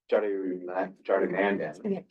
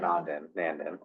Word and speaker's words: Jardinandin: Councilmember Jardinandin. I said it wrong the first time. Jardinandin, not Nandin.